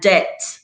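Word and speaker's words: debt: all at the end here comes the word subtle with b in the middle and det d-e-b-t with b in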